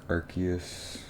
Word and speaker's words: Arceus: and almost angle up because it'll look cooler, more elegant, more like Archus. And there like I think it's been officially pronounced all of those ways. Archus, Arus, Arus.